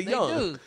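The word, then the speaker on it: Jeong: said Ken Young yeah kin young that's how you say it in Korean no you don't it's k j they don't say Jung they say young dude I made I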